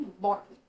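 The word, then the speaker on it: bought: तो आप देखेंगे तो इसकी स्पेलिंग है बी ओ यूजी एटी पर बोलते वक्त हमें कहना है बट इसका मतलब क्या हम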